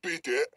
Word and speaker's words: bidet: And instead of swallowing an ounce of our pride and agreeing that not only is a bidet pronounced bidet, like filet or mignon, or admitting that bidets